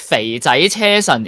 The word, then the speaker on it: 肥仔車神: So maybe actually my name is pronounced as 肥仔車神 in Cantonese. Yeah, in Hong Kong we use Cantonese as our mother tongue, and the numbers in my name is just the intonation indicator in the Cantonese pronunciation notation.